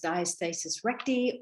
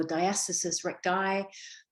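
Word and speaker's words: diastasis recti: heard of this term pronounced as diastasis reti or diastasis reti both are correct just depends on what part of the world you're from and so in this talk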